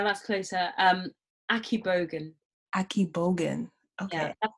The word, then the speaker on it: Akigbogun: a AK yeah that's closer um akib Bogan Aki Bogan okay yeah that's how I say it anyway it's yes it's pronounced differently depending on yeah that's how I